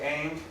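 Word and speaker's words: Ingres: This does not look like Aang, but somehow that's how he pronounces his name. It's French.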